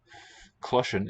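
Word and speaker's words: cloiseann: That's just my little spelling pronouncer. Clochen is how the word actually sounds.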